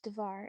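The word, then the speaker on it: дверь: Door in Russian is pronounced dvar.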